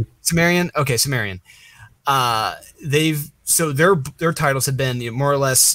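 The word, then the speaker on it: Cimmerian: I think it's pronounced Chimerian. Sumerian. Okay, Sumerian.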